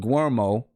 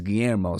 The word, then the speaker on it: Guillermo: but you know I formed a habit of saying gueermo and his Guillermo so I'm trying to